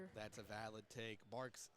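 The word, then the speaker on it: Barq's: Bark's not really or I believe I've heard different pronunciations, but I do pronounce it bark.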